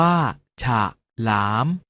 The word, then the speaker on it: ฉลาม: วิสรรชนีย์ ปรากฏ ให้ เห็น เวลา อ่าน จะ ออก เสียง อะ กึ่ง เสียง เช่น ทหาร ออก เสียง ว่า ทหาร ถนน ออก เสียง ว่า ถ้า ถนน ฉลาม ออก เสียง ว่า ฉาก หลาม ถนน ออก เสียง ว่า ขนุน เอา เมล็ด ออก เสียง บ้า เมล็ด เรา มา ออก เสียง